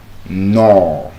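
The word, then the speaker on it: gnaw: No. No. The g is silent. No. No. G at the beginning of a word.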